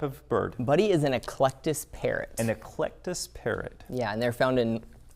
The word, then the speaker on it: Eclectus: Eclectus.